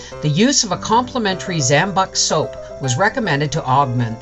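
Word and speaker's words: Zam-Buk: So, Zambuc is how it's pronounced, is a patent medicine which is produced by the Zambuc Company of Leeds, England.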